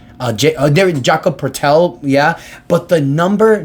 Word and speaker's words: Jakob Poeltl: Quickley, Jakob Poeltl, I believe that's how you pronounce his name, Jakob Poeltl, yeah, but the number 9 pick in the 2025 draft.